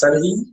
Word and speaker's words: Serhii: yeah, you almost nailed it actually because my name is pronounced as Serhi, Hmm. but it's the last letter is difficult to pronounce for English speakers because you don't have like an alternative Hmm. to that letter.